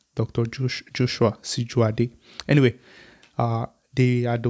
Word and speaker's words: Joshua: Joshua Shijuade.